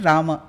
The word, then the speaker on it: राम: तो राम एक्चुअली संस्कृत में प्रोनाउंसिएशन है राम क्योंकि म का पूरा प्रोनंसिएशन पूरा उच्चारण करना है।